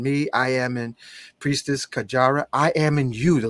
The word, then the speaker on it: Kajara: Kajara. Kajara, that's correct.